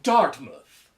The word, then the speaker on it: Dartmouth: It is pronounced Dartmouth.